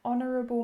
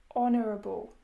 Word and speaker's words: honourable: Because in these words, the H is silent, meaning it is as if we are just saying the O, honourable, hour.